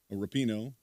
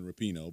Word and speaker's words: Rapinoe: Megan Rapinoe, I think it's Rapinoe. A lot of people were saying Rapinoe, but I think it's Rapinoe is the proper pronunciation of it.